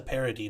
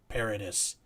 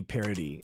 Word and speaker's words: Paradis: it was i thought it was vanessa parody not paradise um yeah it's like are we doing the fancy like you know kentucky pronunciation of her name yeah especially because she's french it should be parody like that yeah uh walter deadman